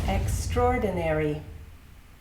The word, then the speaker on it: extraordinary: The next word is extraordinary. It's a long one. Ex-tra-ordinary which letter is silent. Ex-tra-ordinary, that's right. The A sound is silent.